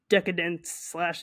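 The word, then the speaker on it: Decaydance: own imprint record label decadence deade Dan it's spelled decade Dan but it's a play on the word decadence um and they said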